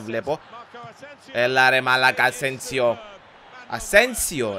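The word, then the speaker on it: Asensio: Ασένσιο. Έτσι προφέρεται σωστά. Οκ. Okay. Κατά πάσα πιθανότητα μου τα πρίσατε στα comments ότι δεν προφέρεται σωστά. Μόλις το είπε ο commentator και το βρήκα σωστά.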